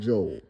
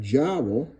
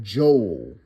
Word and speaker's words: jowl: Also going to fry up some smoked hog jo. Okay, I know some of y'all might pronounce that jaw, but you don't say if if y'all put a B right there, it'd be bowl, right?